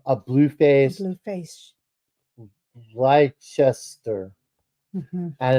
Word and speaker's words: Leicester: Leicester, Mhm.